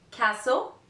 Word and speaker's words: castle: aisle letter T so there's a little list of words in which the letter T is not pronounced the list is the following Castle Christmas fasten listen often